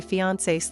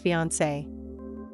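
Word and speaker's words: fiancé: And if you're wondering if these two words have different pronunciations, the answer is no.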